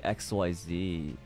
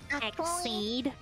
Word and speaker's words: Xyz: x y z cards actually um it's pronounced exceed oh is it what is pronounced xc xc's yeah like exceed these nuts ixc summon it yeah it's not pronounced xyz where did the z